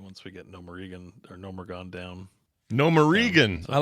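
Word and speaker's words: Gnomeregan: So I have the AI voiceover for the text, and it mispronounces things constantly, and it started to work its way into my brain as the normal way to say it. And they constantly call it Nomeregan. That's great.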